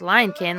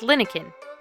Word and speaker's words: Linekin: as it turns out it's not pronounced lion kin like we've been saying it's pronounced linin so we sailed the